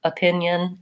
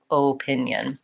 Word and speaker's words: opinion: on the word opinion people often will have trouble saying that schwa that uh sound for the letter O because when they see letter O they think they should be saying Oh pinion with an O and so if I